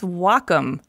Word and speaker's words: Wacom: No well calm no its Wacom pronounced wah like the Japanese word for harmony and come for computer the Wacom Cintiq 16